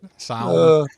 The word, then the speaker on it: salmon: Salmon. Salmon. Get into the. But, I get it. The L is silent, dude.